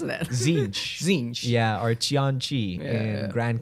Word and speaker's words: Tzeentch: How do you pronounce that? Tzeentch.